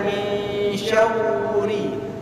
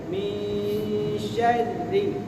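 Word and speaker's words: مِن شَرِّ: Itu jangan dibaca min syawri, min syawri, tapi bacanya min syarri.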